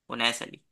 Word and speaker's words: Unais: है प्रोनाउंस करना मैं स्पेलिंग बता देता हूं स्पेलिंग है नसली तो आप लोगों को उ अगर मुश्किल लगे